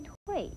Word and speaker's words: 蛻: 明的是，睡字共有两种读音，在念睡的时候是指虫类脱皮而言，念退则是指虫类